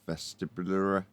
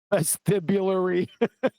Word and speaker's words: vestibular: So 2 reference frames, an acceleration, and then you're into the vestibulary. How do you say it? Vestibulary. How'd you say it? Vestibular. Vestibular. I also Vestibular.